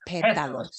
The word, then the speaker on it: pétalos: Los pétalos. Oh, that's right. The accent on the A, Los right.